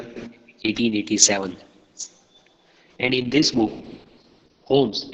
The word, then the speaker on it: Holmes: And in this book, Holmes, L is silent over here, don't say Holmes, Holmes.